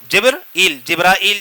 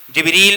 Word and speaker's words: جبریل: کا نام ہے جبرائیل، جبرائیل بھی جس کو پڑھتے ہیں، 3 تلفظ ہیں اس کے، جبرائیل، جبریل اور جبرائیل، درمیان میں بغیر الف کے۔ تو اس کا مطلب،